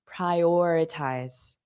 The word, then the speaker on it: prioritize: But I hear mistakes with this and also the pronunciation, prioritize. oritize, prioritize, prior. So notice that or is the stress sound, prioritize, prioritize.